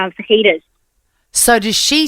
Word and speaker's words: fajitas: That the J is silent in jalapeno and fajitas.